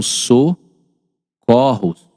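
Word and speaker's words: socorros: No plural, né? Tá vendo? No no singular é fechado, ó. Socorro, mas no plural são so corros.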